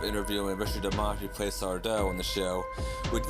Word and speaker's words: Sardo: Oh, well, it's Sardo. No, mister. Accent on the dough.